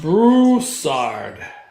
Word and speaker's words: Brousard: Brousard is typically pronounced brusard. Rhymes with yard or sometimes she's saying it.